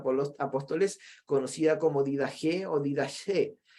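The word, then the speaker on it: Didaché: los dos sea por los apóstoles conocida como didajé olvidase pronunciado con jota como en griego de dax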